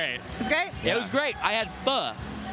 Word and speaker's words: pho: I HAD PHO. OH, PHO!